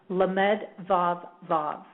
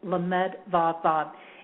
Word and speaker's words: Lamed Vav Vav: And I want to give you the pronunciation or the actual name for dialing God, and that name is Lamed Vav Vav. Okay, Lamed Vav Vav.